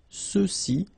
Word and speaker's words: ceux-ci: And then for the masculine plural, ceux-ci, okay, remember final X is not pronounced, so you get the sound ce, ceux-ci, and then ceux-là.